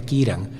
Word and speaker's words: Ciarán: ahora hemos aprendido que ciarán se pronuncia kiran no la la borrasca